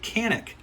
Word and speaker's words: Canik: I think with the Kanak 55 now some people say john 'ok it says see a n I K so I'm gonna pronounce it Cannock because that's how it is spelled let's start here at